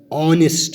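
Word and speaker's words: honest: اسی طرح N umbrella N ऑनेस्ट मैन, ऑनेस्ट मैन। तो यहाँ पर जो एच है ये साइलेंट है, ऑनेस्ट मैन, ऑनेस्ट मैन।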